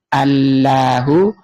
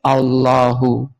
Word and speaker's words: الله: Kemudian hamzah tengahnya tadi dan sama yang di n dibuang menjadi Allahu, kemudian bacanya ditafhim, ditebalkan menjadi Allahu.